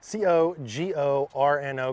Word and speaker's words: Cogorno: C-O-G-O-R-N-O, Cogorno, like DiGiorno.